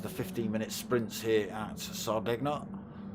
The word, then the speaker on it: Sardegna: The first of the 15-minute sprints here at Sardegna. however you want to pronounce it. I like the hard G.